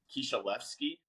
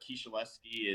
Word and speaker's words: Kisielewski: It's actually pronounced Kisielewski if you pronounce it Okay. like the Polish way, but Kisielewski is just fine.